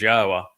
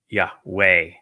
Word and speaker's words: Yahowah: He was the one who recognized that the proper pronunciation was God's of God's name is Yahwa not Yahweh.